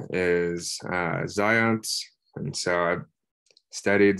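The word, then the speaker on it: Zajonc: um first of all so um the correct pronunciation of the name is uh zions and so i've studied zion's um theories and studies for a while now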